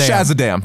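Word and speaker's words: Shazadam: sure it's jazz but for everyone who's like what the let we're just i'm gonna spell it out for you it is s-h-a-z-a-d-a-m no no obviously dc is pronouncing it shaz adam we're not gonna call him no no no no we're not it's shazzadam that's shazam he is now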